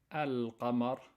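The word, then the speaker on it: القمر: But basically what it says is, when you have a moon letter, you have to pronounce clearly the lam, al-qamar, and when you put a sukoon on top of it.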